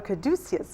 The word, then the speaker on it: Caduceus: I'm going to mispronounce this. Caduceus. Oh, Caduceus.